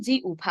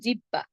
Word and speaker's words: জিহ্বা: যেমন ধরুন জি উভা। আমরা অনেকে বলি জিহ্বা। জিহ্বা হবে না। এর উচ্চারণ হবে জি উভা তেমনি বিউভল।